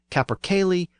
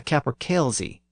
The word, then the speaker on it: capercaillie: is either called a capercaillie or a capercailzie. The first pronunciation is the older pronunciation with the Y sound, and the second pronunciation is the newer pronunciation with the Z sound.